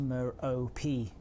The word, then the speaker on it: Merope: Scott Manley says that it's pronounced Merope, and I kind of believe Scott Manley, I'm going to have to say, unfortunately.